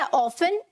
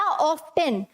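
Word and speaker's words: often: अगर आप बोलते हैं ऑफन या ऑफ्टन, दोनों ही सही हैं, ठीक है, दोनों ही सही हैं, लेकिन क्योंकि इंडिया में मोस्टली मतलब ज्यादातर जो बोला जाता है दैट इज ऑफन, ठीक है, टी साइलेंट रहता है इसमें, ठीक है, ऑफन में ये जो टी है वो मोस्टली साइलेंट रहता है।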